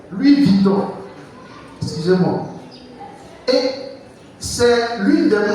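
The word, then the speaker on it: Louis Vuitton: image tout cher pourquoi parce qu'il travaille il n'est pas employé il travaille l'histoire de Louis Vieton c'est comme ça on prononce Louis Viton excusez-moi et c'est l'une des marques de sac des gens qui vivent dans le luxe.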